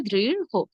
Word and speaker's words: দৃঢ়: অলিউল্লাহ, আপনি নিশ্চয়ই বুঝতে পেরেছেন এর উচ্চারণ হবে দৃঢ়।